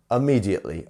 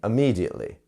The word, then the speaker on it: immediately: next up immediately immediately notice how I'm not pronouncing the I as a i it's as an uh immediately immediately you see um okay